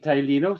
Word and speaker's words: Tylino: Roger Daniels from Therapi Tylino. Therapy Tylino just simply means massage therapy.